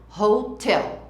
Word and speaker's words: hotel: 5-star hotel, atenção para a pronúncia, a sílaba forte é no tel, hotel.